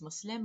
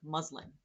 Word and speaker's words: Muslim: So like why would I expect someone to pronounce it correctly but there is an S and a Z sound in the English language.